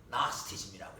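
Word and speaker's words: Gnosticism: 그 영어로 나스티즘이라고 해요. 스펠링은 G로 시작하는데 G 발음을 안 해요.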